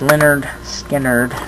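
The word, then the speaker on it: Lynyrd Skynyrd: it's less same same songs I guess uh pronounced Leonard Skard their first album I ain't the one.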